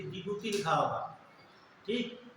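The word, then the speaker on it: Djibouti: Somalia, Ethiopia, Eritrea, जिबूती, जिबूती लिखा था, D silent होता है, ये 4 देश, ठीक है।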